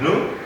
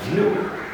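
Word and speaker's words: gnu: Then we have nom, nom, and then we have nu, nu, not nu, but nu.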